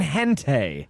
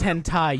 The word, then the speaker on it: hentai: like i agree with american gente listen like it's pronounced hentai you play oh my